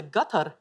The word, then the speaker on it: Qatar: no you're right wow even where you're good pronunciation they say gutter so we say qatar yeah well that's very